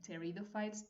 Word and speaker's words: Pteridophytes: Pteridophytes, pteridophytos, we don't pronounce the P, which is at the very beginning.